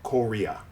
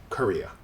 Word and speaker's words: Korea: circus same way and same with Korea in this case the middle syllable is stressed so these syllables simply become schwas even though this is an O and this is an a native English speakers will say k they won't say Cora they say Korea now let's take a